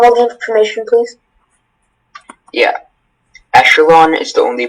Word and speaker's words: echelon: Echelon is the only pronunciation.